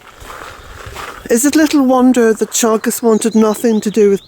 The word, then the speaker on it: Teagasc: So, Teagasc, that's how it's pronounced.